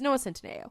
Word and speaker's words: Noah Centineo: It's Noah Centineo.